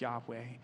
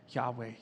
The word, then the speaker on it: Yahweh: y h w h yahweh it sounds a lot like breathing in the original hebrew yahweh you can't even